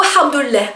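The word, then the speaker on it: الحمد لله: Donc en fait c'est un mot assez drôle parce que on le prononce avec une lettre, avec un son qui n'existe pas en français, donc le ha, ça vient de la gorge, et ça fait quand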